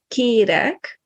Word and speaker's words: kérek: So for vowels, the difference between e and e can make a different word. So for example, kérek and kerek.